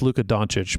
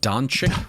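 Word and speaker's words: Luka Dončić: is it's Luca's best card and it's it's pronounced Luka doncic but you know you can sit here and butcher it all you want Don chicken what all I know is all I know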